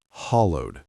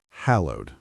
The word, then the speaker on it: hallowed: Even though it's spelled with two L's, we only pronounce it as one. It sounds like hallowed, not hallowed. Let me say it slowly. Hallowed.